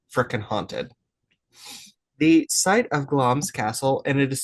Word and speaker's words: Glamis: The site of Glom's Castle, and it is spelled Glamus, but pronounced Gloms. So, if you try to look it up, it's G L A M I S, but it is pronounced Gloms.